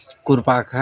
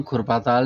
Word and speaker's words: कुरपाखा: मतलब गांव खुरपाताल नहीं है, कुरपाखा है। अब कुरपाखा राजस्व ग्राम में जो तालाब है तो कुरपाखा ताल, अंग्रेजों का प्रोनाउंसिएशन है तो वो खुरपाखा ताल का तो खुरपा ताल हो गया हो।